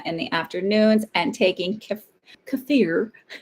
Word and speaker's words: kefir: I was gonna use some, you say it the right way to say is kefir, apparently.